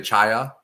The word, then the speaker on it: chaya: It's pronounced, you say chaya? Yes, that's an easy one.